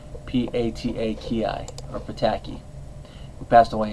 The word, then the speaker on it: Pataki: In this episode, the Sewer King, he is voiced by Michael Pataki, if I'm pronouncing that last name correctly, P-A-T-A-K-I, or Pataki, who passed away in 2010.